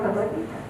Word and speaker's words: Bhagavad Gita: They call it Bhagavad, which is very different from Bhagavad Gita.